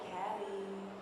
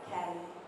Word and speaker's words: Kaliii: Because you got to say it like Kaliii. So if it's like one eye, it's like Kaliii, you know? Oh. Got to drag the eye out.